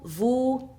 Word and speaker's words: vous: Faites attention qu'on ne prononce pas les consonnes finales. Nous, vous, il, elle, pluriel.